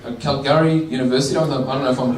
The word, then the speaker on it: Calgary: studies from the east basically a professor from cow calorie Calgary University of the burner phone pronouncing that right what was that sorry that's